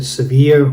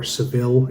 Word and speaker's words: Sevilla: going from like Madrid to Sevilla, or Seville as you may pronounce it.